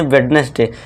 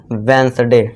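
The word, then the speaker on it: Wednesday: जबकि इसका correct pronunciation क्या होता है दोस्तों? वेडनेसडे। ठीक है दोस्तों? यहां पे देखिए डी के बाद क्या आ गया हमारा? एन आ गया और हमने एन देखा था रूल में।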